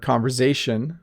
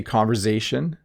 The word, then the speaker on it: conversation: hi bob i notice you pronounce the word conversation with a zed sound or z sound if you're american are both ways accepted in my area of ontario canada when we say conversation it sounds like a